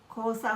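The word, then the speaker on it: 黄砂: তো খো মানে হলুদ, হলুদ কিন্তু জাপানিতে বলে খিরো, কিন্তু এখানে এটা আসবে খো মানে হলুদ, আর সা হলো গিয়ে সুনা, বালি। বালিকে সাধারণত বলে সুনা, কিন্তু এখানে আসবে যে খোসা মানে হলুদ বালি।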